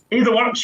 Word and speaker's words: AdaWorks: Is that how you pronounce it? AdaWorks, yeah, AdaWorks is fine.